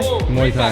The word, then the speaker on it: Muay Thai: This is Muay Thai, am I saying that right? Cameraman? Muay Thai? Muay Thai, yes. Muay Thai, I said it right.